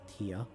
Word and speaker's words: Tyr: I know Tyr, which is Tyr, it's actually pronounced Tyr.